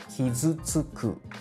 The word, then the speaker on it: 傷つく: combine the ending sound of hits and the vowel u together and say tsu. When you combine all of these syllables, it will sound as kizutsuku, kizutsuku.